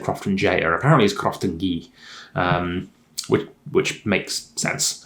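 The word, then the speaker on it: Croftengea: this case 122 is sometimes referred to as crafting ghee which is apparently how you pronounce it i i learned that from um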